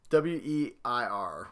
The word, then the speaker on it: Weir: I think that's how you say his name. W-E-I-R, Weir.